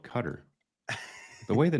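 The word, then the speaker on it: Qatar: how to pronounce cutter as far as I know it is pronounced cutter that's what I've uh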